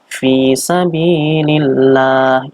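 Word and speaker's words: فِي سَبِيلِ اللَّهِ: Ini dibaca tarqiq lamnya. Lamnya dibaca tarqiq atau tipis. Fi sabilillah. Ini dikarenakan ada huruf depan itu huruf lam berharokat kasroh bertemu dengan lam jalalah yaitu Allah, maka dibacanya tarqiq tipis.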